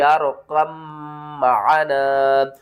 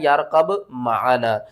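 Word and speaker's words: ارْكَب مَعَنَا: فِي مَعْزِلٍ يَا بُنَيَّ ارْكَب معنا۔ بہت سے لوگ پڑھتے ہیں یارقب معنا، اس کے ہجے کرتے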